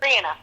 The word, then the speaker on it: Briana: Briana, yeah.